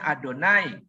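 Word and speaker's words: YHWH: nabi percaya Wah ih WH dibacanya adonai Tetapi kalau kita yahwe saja enggak papa bahwa Yahweh adalah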